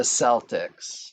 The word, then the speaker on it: Celtic: mistranslation here in America the Celtics of Boston the correct pronunciation at least in Great Britain is Celtic and that's where the